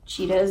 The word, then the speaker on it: Cheatahs: It's just self-titled, but their name is spelled Cheatahs. So Cheetahs, and they're from England.